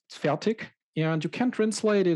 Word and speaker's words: Fertig: then in german because i mispronounced my own last name for roughly 30 years i say with more or less a k at the end but proper german it's fatigue so what do we